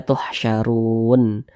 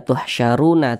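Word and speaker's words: تحشرون: nun ini kita sukunkan atau kita matikan sehingga dibaca tuhsyarun tidak dibaca tuhsyaruna tidak tapi dibaca tuhsyarun seperti itu Baiklah saudara semuanya dikarenakan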